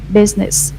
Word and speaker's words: business: There are only two syllables here. Business. Business. Business.